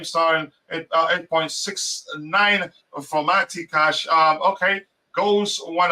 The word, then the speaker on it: Matty: um for have cash mat cash that's how you pronounce his first name forting 8 8.93 for R star and 8.69 for mati cash um okay goes